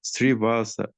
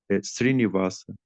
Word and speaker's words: Srivasa: Srivasa. Some people is pronunciate Srinivasa. Is not correct. What about Srinivas? Yes, Srivasa is correct. No Srinivasa. Srivatsa, you're saying?